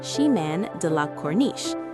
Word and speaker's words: Chemin de la Corniche: by walking along the Chemin de la Corniche, pronounced Chemin de la Corniche.